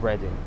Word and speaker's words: Reading: So it's a syllable of the letter E. But it's Reading.